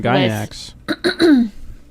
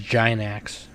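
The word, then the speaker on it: Gainax: combo trigger came from gynax nick you're saying it wrong it's a giant axe yeah china um but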